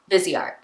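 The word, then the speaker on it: Viseart: right now okay so Sephora says on their little YouTube video here that it's vzy art so that's what I'm going with vzy art vzy art not Vice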